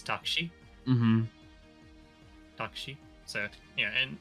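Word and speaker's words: タクシー: In Japanese it's takshi.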